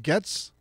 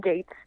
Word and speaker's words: Getz: Is it Lily Getz? Yes, Lily. Well, she pronounces it Gates. Yeah, she would. I was wrong.